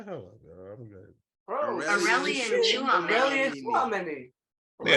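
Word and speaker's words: Aurélien Tchouaméni: Aurélien Chouameni.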